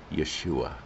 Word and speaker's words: Yeshua: jesus yeshua christ yeshua that's actual hebrew pronunciation of jesus yeshua this is uh 19 verse 19.